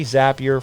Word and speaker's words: Zapier: Zapier rhymes with happier, and it makes my work life happier, and it'll do the same for you.